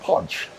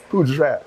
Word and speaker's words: poudre: Yes, Poudre is French for powder, but it's actually pronounced podge. So like J'ouvert, right? Poudre, podge, but we Caribbean, so we say Poudre, so it's easy for people to...